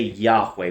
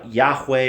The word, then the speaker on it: Yahweh: this is my name we would say Yahweh we don't know exactly how to pronounce it um in Hebrew they write without vowels and then eventually later on they had a system where they would you know sort of put these dots to indicate where the vowels word